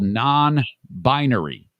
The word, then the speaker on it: non-binary: Non-binary. I'm breaking up. Not binary. It's a 3-syllable word, and I'm stressing a different syllable than you are.